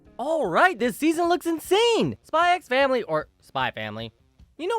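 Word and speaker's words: Spy × Family: Spy X Family, or Spy Family. You know what? I'm going to make a controversial hot take here. I know it is pronounced Spy Family, but the X is there!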